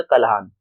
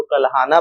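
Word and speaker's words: कल्हण: था जिसका नाम था कल्हान। हम लोग इंग्लिश में अगर प्रोनाउंसिएशन करते तो कल्हाना पढ़ते हैं, बट इंडियन टर्म में अगर हम पढ़े तो वो कल्हान होगा, क्योंकि अंग्रेजों ने ए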